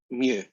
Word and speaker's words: mu: them down new one you pronounce it mu right that's the population